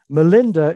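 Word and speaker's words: Milinda: questions of king melinda melinda is the pali pronunciation of the greek word mananda north east northwest india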